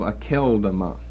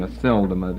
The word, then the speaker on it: Akeldama: Or the field that Luke speaks of in Acts 1, known as the field of Akeldama. Aceldama. KJV may have a soft C pronunciation, Aceldama there, but Akeldama.